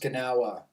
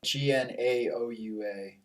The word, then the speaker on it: Gnaoua: across something that's been an influence to you, Gnaoua music. Can you tell me about that and what about it's like so moving and inspiring to you? Well, it's mostly pronounced Gnaoua, Gnaoua.